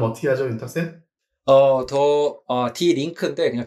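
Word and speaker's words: Die Linke: 발음 어떻게 하죠, 윤탁쌤? 디 링크인데 그냥 더 레프트라는 뜻입니다.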